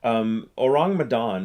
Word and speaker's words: Ourang Medan: Ourang Medang, it's two words. It's spelled Ourang Medan.